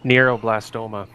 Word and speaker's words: neuroblastoma: I'm guessing that's how it's pronounced. Neuroblastoma.